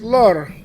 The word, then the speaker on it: leurs: So uh and how do you pronounce it? Well, you pronounce it lur l l l l